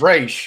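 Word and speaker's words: Raiche: pronounce her last name i'll like like race yeah okay right race that's it and so i was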